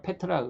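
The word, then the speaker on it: Πέτρα: 그래서 시몬을 이제 베드로라고 하는 이름으로 고쳐주시면서 베드로란 말은 페트라, 뭐 원어의 발음으로는 페트라 그러죠.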